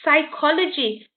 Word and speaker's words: psychology: go don't go precise so the p is silent then you've got pneumonia